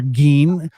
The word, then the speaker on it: Gein: Right now, the hot topic is Ed Gein or Gein, and I appreciate that correct German pronunciation.